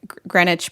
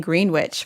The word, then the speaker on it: Greenwich: I used to screw up saying Greenwich by saying Greenwich. Well, it looks like Greenwich.